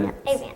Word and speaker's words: Avants: Avants.